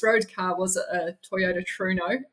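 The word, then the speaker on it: Trueno: So my first road car was a Toyota Truno, as we pronounce it in New Zealand.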